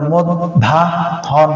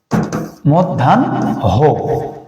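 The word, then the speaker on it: মধ্যাহ্ন: আগে দন্তন্য আছে পরে তাহলে উচ্চারণটা মদধা হন হওয়ার কথা কিন্তু এটা হবে না এটা ভুল উচ্চারণ হয়ে যাবে তাহলে আমার উচ্চারণটা কি হবে মদধান এই এটা মিষ্টিকে ভুলে গেছে মধ্যান হ মধ্যান হ মধ্যান হ ওকে কারণ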